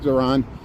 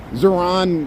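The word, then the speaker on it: Zohran: I got to say his name right, Zoran.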